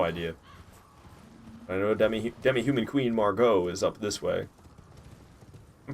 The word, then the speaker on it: Margot: Like that actress, Margot Robbie. Isn't it spelled the exact same way? With the T? Silent T?